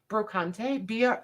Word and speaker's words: brocante: No, the Brocante. The Brocante. And I don't think it's actually pronounced that way in France. It's just brocante, right, Louise? I think they leave the E silent, whereas we pronounce it.